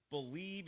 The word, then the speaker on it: Bleav: Head to BetOnline today and don't forget to use the promo code BELIEVE. It's the name of the network, except it's spelled a little uniquely, B-L-E-A-V.